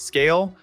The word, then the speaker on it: Skale: That's Skale, spelled with a K.